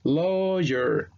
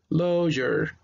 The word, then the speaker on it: lawyer: Entonces la J, la E invertida, que es el sonido del schwa, va a sonar como R. Entonces cuando yo leo, va a sonar lawyer, lawyer.